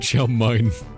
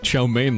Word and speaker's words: chow mein: Egg chow mine. Why does he pronounce chow mein like that?